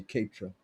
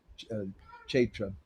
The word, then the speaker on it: Kshetra: that Sri Kshetra, and this is how they pronounce it here, they say Kshetra. In Vrindavan they'll say Kshetra, but we say Kshetra here.